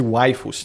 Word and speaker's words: waifu: Que é a palavra wife em inglês, que significa esposa, porém pronunciada no sotaque japonês, né? Fica waifu. Porque lá eles não têm o fonema fi, né? Então eles substituem pelo fonema fu que existe lá.